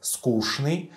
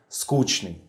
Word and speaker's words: скучный: So, I have noticed long ago that the older generation pronounced this word as скучный and younger скучный.